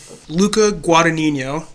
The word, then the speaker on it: Luca Guadagnino: that little moment yeah Luca Guadagnino that's how you say it Mike Luca Guadagnino Luca